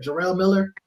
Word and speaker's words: Jarrell Miller: Is that how you pronounce his name? Jarrell Miller or Jarrell Miller?